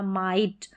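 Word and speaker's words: might: या जीएसटी आएगा तो जीएच साइलेंट रहेगा यहां पर है साइलेंट की बात जीएच का उच्चारण नहीं रहेगा जैसे यहां पर देखेंगे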